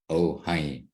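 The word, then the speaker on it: Ojai: having a little difficulty it's spelled o ji Ohi oh the J is like the Mexican J isn't it I think it's Mexican I think it's a Spanish thing yeah and we have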